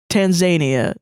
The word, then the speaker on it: Tanzania: understand I understand that it's pronounced Tanzania yeah Tanzania whatever it